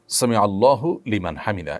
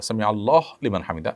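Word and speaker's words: سمع الله لمن حمده: ফেলেছেন দেখুন সামি আল্লাহু সামি আল্লাহু লিমান হামিদা এটি হলো শব্দের সঠিক উচ্চারণ সামি আল্লাহু লিমান হামিদা সামি আল্লাহু লিমান হামিদা এটা সঠিক উচ্চারণ নয় থামতে হবে সেখানেই যেখানে মানুষ ওয়াকফ করবে ওয়াকফ না করলে সেখানে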